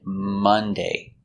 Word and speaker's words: Monday: And Monday. We don't say Monday, we say Monday.